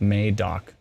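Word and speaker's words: Madoc: eastern ontario crazy and it's may doc says glenn sorry at least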